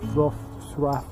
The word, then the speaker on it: Wrocław: Saya kerja di kota, termasuk kota ketiga terbesar di Polandia, yaitu Wrocław, tapi bacanya itu bukan Wrocław tapi Wrocław, susah pokoknya, Wrocław gitu bacanya.